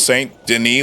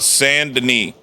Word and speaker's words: Saint Denis: I've heard people pronounce Saint Denis like it's written. It makes me sick. So the only reason I'm saying Denis is because I heard it. I heard it said.